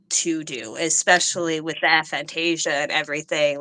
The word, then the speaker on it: aphantasia: that I'm able to do, especially with the aphantasia and everything like working around that has been an entirely different hill to jump over.